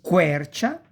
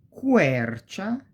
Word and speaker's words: quercia: que, quadro, quaderno, qui, quercia, eloquenza e quello, that. E si pronuncia più o meno, we pronounce it more or less like quiver, quiver.